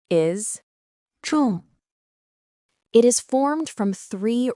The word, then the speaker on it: 众: Its pronunciation is 重 It is formed from three Ren characters, but it doesn't simply mean three people.